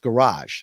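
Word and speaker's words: Gouraige: buddy in the chat I think it's Rick rarick there uh pronounced garage so Richard garage yeah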